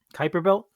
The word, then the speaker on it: Kuiper Belt: I think it's called Kuiper Belt. I don't know how it's pronounced. Kuiper Belt. There we go.